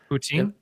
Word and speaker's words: poutine: I got authentic Michigan / Canadian poutine, I believe is how you pronounce it. Poutine. Poutine is what Zenkai Goose said is how you're supposed to pronounce it.